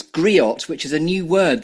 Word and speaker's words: griot: third piece yet which I think is it's griot which is a new word that I've learned by researching you have I pronounced that correctly um yeah the tea is